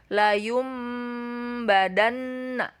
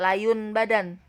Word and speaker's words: layum badan: Jadi cara membacanya adalah layum badan di sini ya. Layum, tidak layun badan, tetapi berubah menjadi mim. Layum badan, itu iklab.